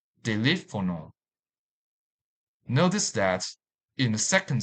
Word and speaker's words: teléfono: This word has 4 syllables. Teléfono. Teléfono.